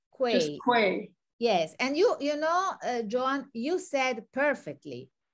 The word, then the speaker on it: quei: So when you say quay, is it one syllable or do you make it two, like quay? No, quay. Just quay.